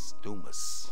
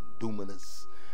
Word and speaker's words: dunamis: You know, and how you spell those words, dunamis, D-U-N-A-M-I-S, dunamis. Some say dunamis and dunamis. I don't know how you want to pronounce it, but I say dunamis.